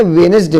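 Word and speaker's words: Wednesday: वेडनेसडे, अब वेडनेसडे में जो है साइलेंट क्या है, डी, डी को नहीं पढ़ेंगे, वेडनेसडे नहीं पढ़ेंगे, वेडनेसडे पढ़ेंगे, है ना, यानी बुधवार का दिन, वार।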